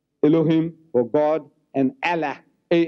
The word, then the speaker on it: Allah: to pronounce our language it is not Al it's Allah try try try Allah